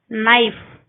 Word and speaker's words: knife: K is not pronounced when it comes before N at the beginning of a word. Knife, knee.